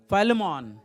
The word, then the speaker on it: Philemon: Am I pronouncing it right? Philemon.